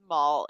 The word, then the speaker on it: Maul: just this like Maul rhymes with Paul.